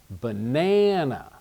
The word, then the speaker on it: banana: has the reduced sound banana you can see that the middle syllable is stressed banana I can stretch that one out the first and second syllable are shorter but also they I